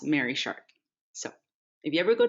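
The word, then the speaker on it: Marie Sharp's: m-a-r-i-e excuse me but it took me a while for me to learn that it's pronounced mary shark so if you ever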